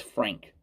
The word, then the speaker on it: Franck: The Franck Kessie one, which is, and I should say it is spelled Franck, but it's Frank.